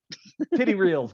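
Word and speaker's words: Tetreault: I mean, how are you pronouncing this thing? Tetrol? Titty reels, got it.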